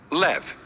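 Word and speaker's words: לב: Oração coração quem hebraico se pronuncia levar ou na sua forma curta leve diferentes culturas tinham ideias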